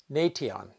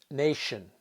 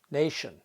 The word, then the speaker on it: nation: don't pronounce it as Nation the pronunciation is Nation here the letter T is pronounced as sh Nation in the second word